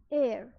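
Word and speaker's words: heir: with honour are एंड एयर this is also pronounced as एयर एयर means successor सो इन सब words में पहला letter जो है एच व साइलेंट है तो सेकंड लेटर ओ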